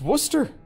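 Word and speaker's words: Worcester: you pronounce your town name and he's like Wooster it's not it's spelled Worchester or Porchester or something like that and you're like what is this it's Wooster wo o st ER like what I was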